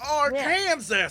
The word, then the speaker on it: Arkansas: It's pronounced Arkansas, you idiots!